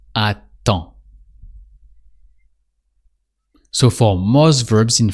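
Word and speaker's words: attends: So you don't say the d sound at the end. It's just aton.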